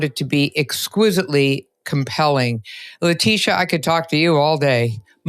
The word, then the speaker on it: Laetitia: Laetitia, I could talk to you all day.